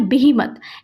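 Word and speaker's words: behemoth: इसका प्रोनाउंसिएशन है बिहीमत।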